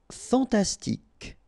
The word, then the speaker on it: fantastique: Fantastique. Okay, Q-U-E at the end, K. Okay, tic. Fantastique.